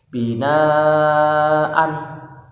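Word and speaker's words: بِنَاءً: Binaan dibaca binaa ya, binaa ya.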